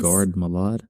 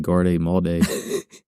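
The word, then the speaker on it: Garde Malade: Gard Malad? Yes. I actually checked with my stepdad who's French, and he confirmed. I would have said Garde Malde. That is definitely not how you say it.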